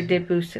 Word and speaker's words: Debussy: that How do you say Debussy?